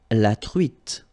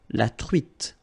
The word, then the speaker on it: truite: truite, same thing here, final E not pronounced, t, la truite, le maquereau.